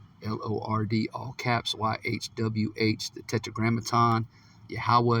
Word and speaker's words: Yahweh: Yahweh is how you say it.